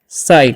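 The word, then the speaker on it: sight: तो नेक्स्ट जो वर्ड है हमारा वो है एस आई जीएसटी। तो इसे हम लोग पढ़ते हैं साइड।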